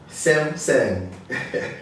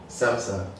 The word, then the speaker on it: Samsung: Samsung. No, Yeah. no, don't say it like that. Samsung.